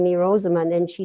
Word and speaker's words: Rosamund: And I once asked my mom, why did you name me Rosamund?